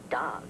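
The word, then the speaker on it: dawg: be the easy represent d-a-w-g pronounced dog learn anything faster spc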